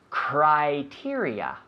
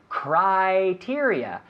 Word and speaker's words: criteria: like oh I I criteria we don't say Cree we say cry criteria one more time criteria